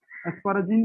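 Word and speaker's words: asparagine: उसके बाद अस्पार्टिक एसिड है, अस्पार्टिक एसिड, और उसका था अस्पर्जिनाइन, है ना, अस्पराजिन भी कहते, इसको प्रोनाउंस करते तो अस्पराजिन भी होता है, अस्पराजिन ही प्रोनाउंस कीजिए, है ना।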